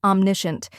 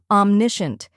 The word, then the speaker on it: omniscient: like um in omnipotent next is Nish which rhymes with fish and should be pronounced clearly finally we have un